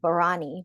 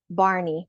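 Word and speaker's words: Bharani: look what looks like barani but it's pronounced Barney which is easy to remember because that's the purple dinosaur some of us are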